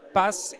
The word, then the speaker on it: HR Path: Donc je le rappelle, Associate Partner chez HR Pass, il faut le prononcer en anglais, donc Pass, et Francesca Zanizzi ou Zanizzi?